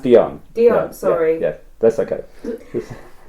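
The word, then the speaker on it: Dhyan: Can you explain the relationship between the spiritual inner light, Diane, and Dion, yes. Dion. Sorry? It's pronounced Dion.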